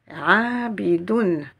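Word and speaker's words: عَابِدُونَ: voyelle qui est doublé donc on va prononcer don abidoun abidoun la lettre MIM avec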